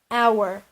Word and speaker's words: hour: but an example we will finish in an hour the H in our is silent the first sound is vo luckily most